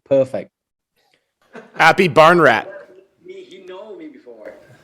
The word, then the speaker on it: Aphibarnrat: been talked to me a couple times he pronounced my name my last name perfect happy barn rat me he know me before his mom being